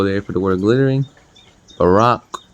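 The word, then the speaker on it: בָּרָק: for the word glittering Barack I believe it is how you pronounce it I believe that's how you pronounce it Strong's H300 Barak Barak I know it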